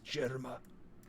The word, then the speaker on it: Germa: It's with a G instead of a J, but they pronounce it the same. It's Germa. It's Germa 66.